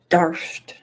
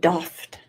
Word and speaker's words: daft: Cat's telling me how to say it. Darft. Darft? Darft? Oh. Okay. Darft. Woo! Woo! I'm getting tingly. V. Oakley, in her Florida accent, said doffed.